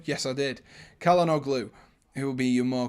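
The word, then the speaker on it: Çalhanoğlu: and then caleno who will be did i pronounce that right calendar glue yes i did calendar glue who will be your more creative player out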